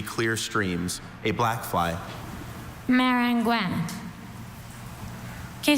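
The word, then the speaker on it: maringouin: Marangouin. Does this word have any alternate pronunciations?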